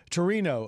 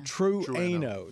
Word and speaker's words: Trueno: And also the close Ken, the Toyota GR86 Torino edition. I think I got that right. Trueno. Trueno edition for all you of you.